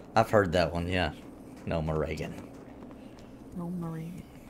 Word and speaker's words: Gnomeregan: oh the dreadlands i spent a lot of time there crinkled says it's gnome reagan i've heard that before i've heard it pronounced that way coffee in the morning